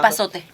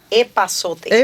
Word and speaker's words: epazote: Epazote. Epazote.